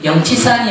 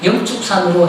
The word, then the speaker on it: 영축산: 왜냐하면 특히 통도사에 있는 스님들이 영치산이 아니고 영축산으로 해달라고 해야 된다고 주장을 많이 하거든요.